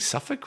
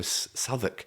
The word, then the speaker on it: Southwark: You're saying Suffolk?" I was like, "No, Southwark. Yeah. Southwark." Yeah. None of the place names make any sense in Britain whatsoever.